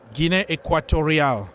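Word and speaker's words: Guinea Ecuatorial: equatorial guine right yeah guine equatorial that's that's the right name the right pronunciation so it is what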